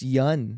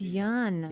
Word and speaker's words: Yeun: You guys keep pronouncing my last name wrong. You Yes. motherfuckers. Yes. Have we? Have you too? It's Brian. yeah. It's Yun. It's Yeun.